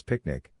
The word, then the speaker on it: PQNK: Superscript 1 PQNK, Peter Kradinizam Kashadakiari, pronounced as picnic, represents the regenerative and sustainable pristine organic farming system.